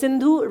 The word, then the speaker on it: Sindhu: myself I say hello my name is synu rhymes with Hindu which I am so it's